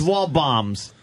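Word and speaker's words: Waldbaum's: guy was like eh anything with a silent D should be blown up wow you got a sink that D in a little bit bombs yeah wall boy it's wall bombs but yeah King Kullen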